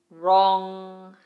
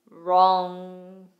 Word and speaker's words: Wrong: Wrong. Wrong.